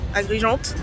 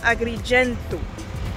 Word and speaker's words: Agrigento: sur Google enfin et c'est ni agriganto ni à réalité niagrigène en français ça se dit agrigeanet agrigeante et en italien Agrigento voilà donc on est parti